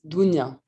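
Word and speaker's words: Dounya: Also, my name, so the OU, it's pronounced like U in Scooby-Doo. So it's Dunya.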